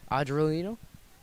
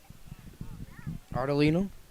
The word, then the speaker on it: Ardolino: baseman, none other than Anthony Adrolino, I believe. Ardolino, mispronunciation there.